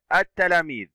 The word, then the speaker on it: التلاميذ: كلمة التلاميذ، اللام شمسية لأنها لا تنطق، وكذلك لوجود التاء وهو من حروف اللام الشمسية.